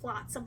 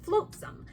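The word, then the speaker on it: Flotsam: um these names like I think flatsom is supposed to be spel like pronounced flatsom like the word but I always called it floatsome so there is a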